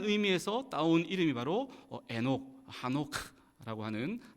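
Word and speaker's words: חֲנוֹךְ: 에녹의 히브리어 원어적 그 이름의 발음을 보면 에녹이 아니라 하노크라고 되어 있습니다. 하노크.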